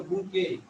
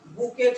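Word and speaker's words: bouquet: আবার এখানে দেখেন ফ্লাওয়ার, ফুল, কিছু ফুল এক জায়গায় করে আমরা করি হলো বুকে। এখানে উচ্চারণের ক্ষেত্রে কিন্তু টি এর উচ্চারণটা সাইলেন্ট থাকবে। আমাদের মতো অনেকের মতে বুকেট হতে পারে না, বুকে, এখানে টি এর উচ্চারণটা আছে।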